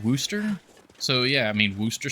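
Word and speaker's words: Worcestershire: It's pronounced Worooster. I my entire life I've heard it pronounced like worst shire or worst sister or all sorts of other things.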